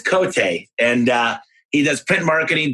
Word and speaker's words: Cote: It's spelled Cote, but it's Cote.